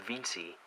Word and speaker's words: Veency: and open up Cydia and install something called viny it's basically a VNC server for your iPhone it is spelled ve ncy and then once you install